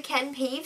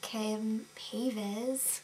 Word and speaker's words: Ken Paves: So they went to the Ken Pave salon. And Tyra didn't even know how to say his name correctly. Ken Paves.